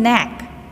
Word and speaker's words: knack: Next one, knack. Knack. Here also, K is not sounding. So, the K letter is a silent in this word.